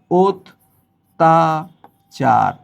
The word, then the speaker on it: অত্যাচার: তাহলে এইটা হবে ও তাচার। এই শব্দ অত্যাচার বললে ভুল হবে।